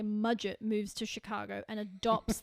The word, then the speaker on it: Mudgett: Holmes moves to Chicago, or I should say Mudgett moves to Chicago and adopts the name Dr. HH Holmes. Dude, that is such an unfortunate name. Mudgett. Mudgett. Muget. It's Muget. It's pronounced Muget, darling.